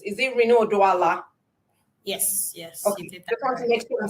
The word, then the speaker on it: Rinu Oduala: of all i like to check uh name pronunciations is it reno doala yes yes okay i'm saying it right because